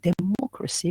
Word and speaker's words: democracy: Are we going to stress the second syllable, mo? Democracy, we will stress mo, right? Yes.